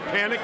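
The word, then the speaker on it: Panek: Panic is spelled P-A-N-E-K.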